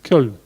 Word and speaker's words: Köln: Köln.